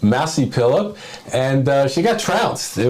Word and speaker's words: Mazi Pilip: I always mispronounce her name. Massey Phillip. Massey Phillip, and she got trounced.